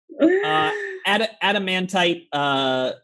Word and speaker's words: Adamantite: Adamantite adventurer says tight, like adamantite.